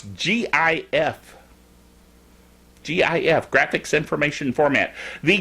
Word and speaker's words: GIF: it's pronounced gif yes like the peanut butter jif jiff so there anyway